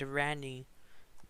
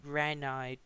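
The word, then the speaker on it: Ranni: One of Renala's children is named Rani, or Ranai, depending on your pronunciation.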